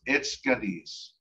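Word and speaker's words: etskvres: And it's pronounced etskadis.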